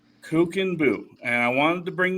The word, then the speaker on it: Kuchenbuch: nation get it right so what is the pronunciation uh cooken bu kookin Buu and I wanted to bring this up because